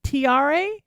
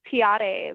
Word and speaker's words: Tiare: TRE is fine. Oh, yeah. That was my sort of that was my bad white girl pronunciation, wasn't it? Sorry about that. No, it's okay. Yes, it's a Tahitian name.